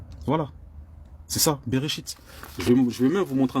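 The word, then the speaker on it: בראשית: C'est comme ça que ça se prononce en hébreu. Le nom Genèse, c'est le nom Bereshit. C'est le nom Bereshit. Voilà. C'est ça, Bereshit.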